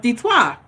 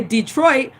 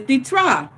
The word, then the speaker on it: Detroit: and what is detroit detroit is a french word it's actually pronounced ditois okay so the trois is detroit okay when and will say detroit but in french is ditra it means water river